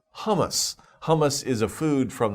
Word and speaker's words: hummus: Okay, and also be careful because humus is not hummus.